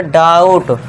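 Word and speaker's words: doubt: अब B silent है यहां पे। ध्यान देना है और इसके लिए टी के लिए हमने ट कर दिया। तो ये हो गया डाउट। आप इस तरह बनाइए और पढ़िए।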